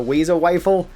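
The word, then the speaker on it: Wazer Wifle: so the very first one is called the wayo Wile which I hate saying it like that but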